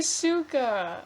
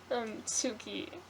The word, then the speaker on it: Suki: I was gonna say Suka. I've been ruined. Suki. That's why did you have Appa before Appa Suki? has more. Appa is a better character than Suki.